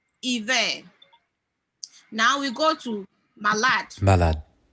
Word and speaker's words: malade: malade, When you look at the spelling of malade, it's M-A-L-A-D-E. Previously, I would have said malade. But from this research today, I've realized that we don't pronounce the E. malade, So it's just malade.